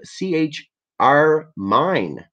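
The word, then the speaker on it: ChRmine: powerful new Option called CHR mine pronounced like the deep red color Carmine so C oh I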